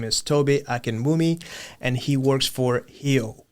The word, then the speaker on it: Tobi Akinwumi: His name is Toby Akenmi and he works for Ho.